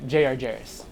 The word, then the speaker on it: Jarris: But he goes by the name of Jarris.